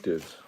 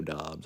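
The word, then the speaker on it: Doubs: Yeah, I like Dubes. Dobbs, Romeo Dobbs, I think is the way it's pronounced. Looks like Dubes, but it isn't.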